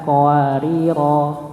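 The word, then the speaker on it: قواريرا: kanat qawarira. Karena ini apa namanya berhenti, maka dia dibacakan 2 rakaat, bukan qawarir. Ya, bukan qawarir, tapi qawarira. Ya.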